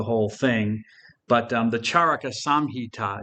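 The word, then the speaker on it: चरक: from this physician um charaka or it might also be pronounced charak with the final a silent but I'll say Charco and the charaka samhita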